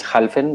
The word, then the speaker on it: Halfin: Chewett representing licensing, the applicant, Jalfin. Am I pronouncing that right? Dalvin, could you tell us you're here? Yes, I'm here. My surname is Halfin, but you can pronounce it Jalfin as well.